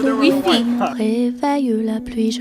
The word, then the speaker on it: Wi-Fi: sur It's le Wi-Fi.